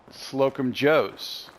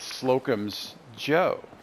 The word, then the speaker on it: Slocum's Joe: i've always pronounced it slocum joe's but it's really it's slocum's joe i've been wrong the